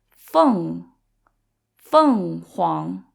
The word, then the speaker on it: 凤凰: e n versus f-e-n-g so the only difference is that f-e-n-g has a nasal sound at the end so it sounds like fun because it's also fourth tone so it's fun Huang and then the pink